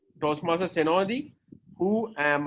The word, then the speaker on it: Senodi: It S-E-N-O-D-I, Senodi. Usually, most of the people do not pronounce my name correctly.